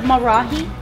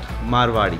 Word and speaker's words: Marwari: Is that how you pronounce it? Marahi? Marwari. Marwari. M-A-R-W-A-R-I. Marwari. Marwari. Marwari. Am I not saying Marari?